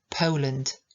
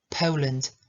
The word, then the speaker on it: Poland: Nie będzie żadnych niedomówień Poland eu Poland akcent na pierwszą są sylaby i dwudźwięk ł am from Poland